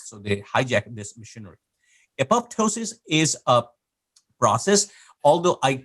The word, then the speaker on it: apoptosis: appeals silent uh so the same way it should be pronounced in apoptosis but uh it's a